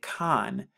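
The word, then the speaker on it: חן: here and we know this makes a ch or k sound interchangeably and then this letter right here which is the noon which gets the n sound so when we put it together we get khan khan which means favor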